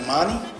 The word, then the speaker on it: Imani: so how do you say your last name immani immani immani m that your real last name